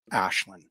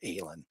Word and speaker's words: Ashlin: her name is pronounced Ashlin. Um, she she states that it is the only way to pronounce that name is Ashlin.